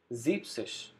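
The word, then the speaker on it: siebzig: sexish sixteen seventy zeepsish again discard e n from zeben number seven the remaining word zeeb then add says to it zepsis number seventy now we have the number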